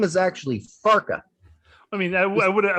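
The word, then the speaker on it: Farke: probably say what f-a-r-k-e yep how would you pronounce that farc yeah ex you're right that's exactly correct and that would be not right right so his name is actually farka i mean i would i would have guessed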